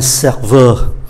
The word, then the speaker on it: serveur: Và chúng ta để ý cách phát âm ở cái âm tiết cuối này, để cho phân biệt là phái nam hay phái nữ.